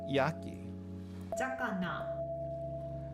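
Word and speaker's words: 焼き魚: Sakana. Zakana. That's going to be a little bit confusing, but some words they change the pronunciation just a little bit uh when combined with other things.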